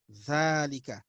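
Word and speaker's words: ذلك: writing what it is valik is pronounced as valika so you don't write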